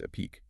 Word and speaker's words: Epique: That's E pi q pronounced epique.